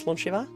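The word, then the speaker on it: slàinte: The cheers in Scottish garlic is slunch. And Jay's mom has the worst time trying to pronounce slanche.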